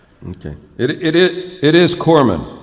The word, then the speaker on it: corpsman: it it it is corman you don't pronounce the s yeah i mean it's not very good for a guy delivering first aid to be called a corpseman like if i'm laying